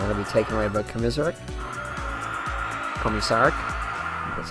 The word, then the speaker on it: Komisarek: And it'll be taken away by Komisarek. That's how you pronounce it.